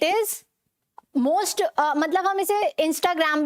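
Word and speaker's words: Instagram: आती है, ठीक है, ये जो एच की साउंड आएगी यहाँ पर, जो कि हमारे स्पेलिंग में नहीं होती, ठीक है, जो हमारी स्पेलिंग में नहीं होती, तो क्या है, कैसे बोलेंगे इसे, इंस्टाग्राम नहीं बोलना, इंस्टा, ह की साउंड आएगी तभी यहाँ पर एच लगा हुआ है, ठीक है, क्या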